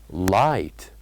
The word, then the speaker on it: light: or the silent letters light light so here the silent letters are G and H these are the silent